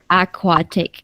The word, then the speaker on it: aquatic: the thing is uh most of you have a problem with the q sound right in the equator and aquatic yeah so it's uh it's uh what is it k.w.a yeah aquatic don't worry everyone will